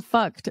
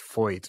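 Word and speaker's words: Feucht: Supposedly it's pronounced Foyt, which I don't know how you get to that from the way his name is spelled, but that's me really.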